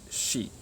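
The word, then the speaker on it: し: This one should be si, right? But actually it's shi.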